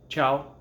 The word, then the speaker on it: ciao: letter vowel or consonant ciao ciao is a special case you're not going to say because the ci makes the cha and the ah after